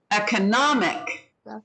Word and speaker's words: economic: second second again um how about economic economic first third third right so the